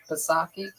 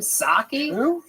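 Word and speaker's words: Psaki: Jen Pasaki. What's that chick's name? Saki. What's that? The Jen Saki. Is that how you say it? You don't say the P at all.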